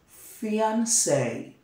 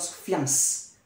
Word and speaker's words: fiancé: We pronounce it as fiancé. Fiancé. Not fiance. Fiance.